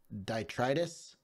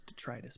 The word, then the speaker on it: detritus: I think that's detritus, but you're close. I think I know the word you're talking about. I think it's pronounced detritus, but it doesn't matter.